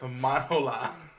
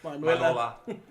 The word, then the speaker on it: Manuela: Eric is in a steady relationship with Manola. I think you said it wrong. Manuela.